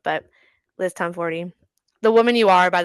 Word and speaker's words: Tomforde: because I thought the E was silent, it is not, which I kind of love. But Liz Tomforde, the woman you are, by the way.